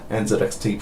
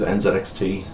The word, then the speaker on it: NZXT: the UK here and we don't pronounce that a Z so this this brand is NZXT for me however I'd be quite